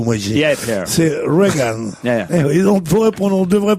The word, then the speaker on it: Reagan: C'est Reagan. Yeah. Et on devrait prononcer I, et on prononcerait uniquement pour emmerder les Français.